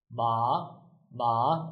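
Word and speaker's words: 马: If we remove the co, the pronunciation becomes like this. Ma ma, it becomes a third tone. So without this one, ma, it means horse.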